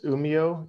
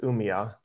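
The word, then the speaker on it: Umeå: when i named it it's a swedish pronunciation and it's uh it's umeo university but when you see it you'll probably think it's pronounced umiya so i think i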